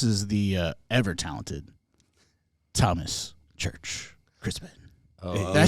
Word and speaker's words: Christmann: If you say it in German, it's Christmann. Oh, that's how you have to say it. You gotta learn to say it like that.